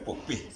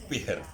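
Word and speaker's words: Fihr: Bukan Pah, bukan Puh. Pihir. Pihir bacanya.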